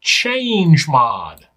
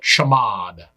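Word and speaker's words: chmod: to modify the permissions I will pronounce change mod though some might call it shamad change the mode in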